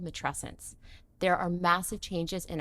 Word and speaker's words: matrescence: It's called matrescence. What? Have you ever heard of this word? Matrescence. Spell it. So it's spelled and sounds similar to adolescence.